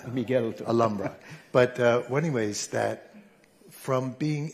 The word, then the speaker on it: Alhambra: I learned that you don't pronounce the H. Miguel. Alhambra.